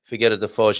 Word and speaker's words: Figueira da Foz: So I'm thinking Ana Rita Vieira is telling me that yes, I'm pronouncing Figueira da Foz in the correct way.